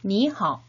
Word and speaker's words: 你好: 니하오 라고 표현을 하죠. 3번씩 따라 발음해볼까요?